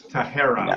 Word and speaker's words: Tahera: It's Tahera with an R, by the way. Tahera. Tahera. Yeah, it's sorry. Yep. It's Dahera. Tahera, yeah. Tahera. And sort of no emphasis, like all syllables kind of get equal emphasis.